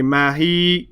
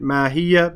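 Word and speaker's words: ماهيه: Because you're stopping and you don't want to say mahi. So they wrote it mahiya because they wanted you to pronounce the fatha there. And if it was written like this and you stopped, then you would say, well, ma adraka mahi, and you stop. But because of stopping and they want you to pronounce that fatha, they put that ha there.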